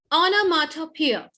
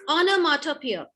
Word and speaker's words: onomatopoeia: The pronunciation is onomatopoeia. It is onomatopoeia. It is not onomatopoeia, okay?